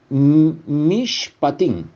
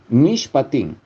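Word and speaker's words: מִשְׁפָּטִים: Sin embargo, el decreto en hebreo, su pronunciación es mishpatim, mishpatim, que es el proceso para ejecutarlo de forma correcta, estas promesas.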